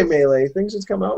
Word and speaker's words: Melee: I say Melee. I should say Melee.